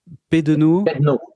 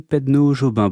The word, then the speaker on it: Pedneaud-Jobin: la la chose la plus difficile pour moi, prononcer votre nom. Pedono Pedno Jobin. Oui. OK, je vais y arriver, je vous promets rien mais normalement j'y arrive. Maxime Pedno Jobin, bonjour.